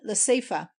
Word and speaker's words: Laseifa: to the place, I discovered it in Laseifa, the accentuated E being sounded as our E in set.